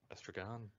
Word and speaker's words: Estragon: It's literally estrogen with an O. Oh, no, it's actually not. Estragon. Estragon, yeah.